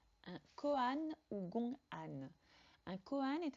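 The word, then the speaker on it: kōan: Le terme gonghan ou koan, prononcé à la japonaise, est issu du vocabulaire juridique de la Chine ancienne.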